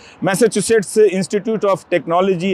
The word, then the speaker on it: Massachusetts: institute of technology तो उच्चारण में बहुत दिक्कत होती है कई लोगों की लेकिन आप मैसाचुसेट्स बोल सकते हैं और अगर आप स्पेलिंग